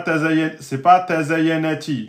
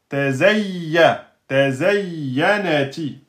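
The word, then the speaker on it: تَزَيَّنَتِ: Attention, le ya, il a une shidda. Tazayyanati. C'est pas tazayyanati. Non. Tazayyanati.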